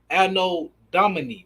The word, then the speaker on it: Anno Domini: then it's AD, which stands for which is pronounced Anno Domini or Domini, which means the year of our Lord.